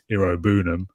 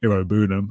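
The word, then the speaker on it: Iroegbunam: So Tim Irobunam, I believe it is, the G is silent, starts kind of out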